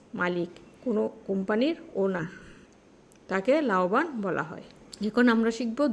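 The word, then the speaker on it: 老板: এখানে দুইটা টোন একই, ফলিং এবং রাইজিং। একটা ওয়ার্ডে পরপর দুইটা ফলিং এবং রাইজিং টোন যদি থাকে, তাহলে প্রথম ফলিং এবং রাইজিং টোনটা উচ্চারণের সময় রাইজিং টোন উচ্চারণ হবে, কিন্তু লেখার ক্ষেত্রে একই থেকে যাবে, ফলিং এবং রাইজিং থেকে যাবে। শুধু এইটুকু মনে রাখলে হবে। তাহলে এটা রাইজিং টোন হবে লাও বান, লাও বান, লাওবান।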